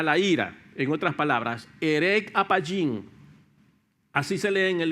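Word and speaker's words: ארך אפים: se se pronuncia, está escrita allí, pero se pronuncia herec apayín, así, herec apayín.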